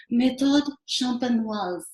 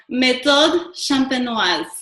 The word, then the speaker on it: méthode champenoise: call the traditional method, which is actually pronounced, hold on here for my French accent, méthode champenoise. Did you guys get that? Okay, so méthode champenoise.